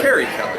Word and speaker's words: Carrie Kelly: I know he's just saying that because, one, he's saying the name wrong. I am. Yes. That's how you know. Yes. It's Carrie Kelly, right?